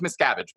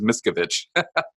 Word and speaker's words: Miscavige: talk about David Miscavige and and it is Miscavige by the way but it's not uncommon you're not the only person who's ever mispronounced it is Miscavige so it's Miscavige okay yeah it's Miscavige and he okay so